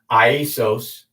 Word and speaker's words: Iesous: Jesus is, it's funny because there was no J, so that's why it's pronounced Iesous.